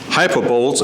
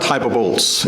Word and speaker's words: hyperbole: Brian Gale wrote, Hyperboles in the Bible. Well, before I got more sophisticated with my understanding of the English language, I also mispronounced other words. It's not hyperboles, it's hyperbole.